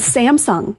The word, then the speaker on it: Samsung: And I can't figure out like how are people saying Sam Samsung wrong? Sam's Sam Samsung. Samsung. Samsung. Okay. So, the wrong empastasis on the wrong syllable.